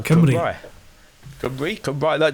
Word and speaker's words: Cymru: Cymru.